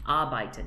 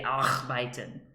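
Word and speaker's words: arbeiten: sounds uh but ton a r b e i t e n a byton you don't say r byton but if you were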